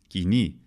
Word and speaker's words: koine: Coyne by the way in modern Greek the pronunciation of koine is Guinea it means common it's